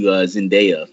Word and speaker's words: Zendaya: Like Stan Lee, the guy Dakota hates so much, supported like the role going to Zendaya or That's how you say it, Zendaya.